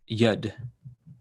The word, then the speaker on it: Yud: Please note that most Israelis pronounce the name Yud.